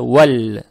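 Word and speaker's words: وَالْ: Здесь ВАУ, она мягкая, с фатхой. Потом переходим сюда. При переходе минуем алиф. Алиф не надо читать. Здесь подсказка есть, что алиф не читается. Далее стоит буква ЛАМ, она читается. Видим, что сукун есть. И понимаем, что следующая буква, в данный момент буква ФА, она лунная буква. Получается ВАЛЬ. ВАЛЬ. ЛАМ читается мягко.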